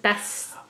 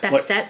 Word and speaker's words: Bastet: Is it Bastet? I'm going with Bastet. Bastet? Like, more like that harder sound at the end.